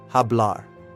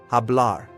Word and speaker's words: hablar: The letter H is always silent in Spanish. Never pronounce it. to speak. Hablar. Hablar.